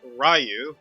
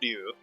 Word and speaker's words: Ryu: For those who wanted to know, the frequently mispronounced Ryu, which is pronounced Ryu in Japanese, stands from Street Fighter.